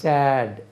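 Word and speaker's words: saw: எஸ்ஏடி chat, எஸ்ஏடி chat துக்கமான, துக்கமான chat, எஸ்ஏடி chat. எஸ்ஏடி chat, எஸ்ஏடி chat சிட்டுக்கு past tense. உட்காருதல், எஸ்ஏடி chat. எஸ்ஏடபிள்யூ சோ, ஐ சோ ஹிம். நம்ம இதை சான்னு சொல்லணும், எஸ்ஏடபிள்யூ சோ.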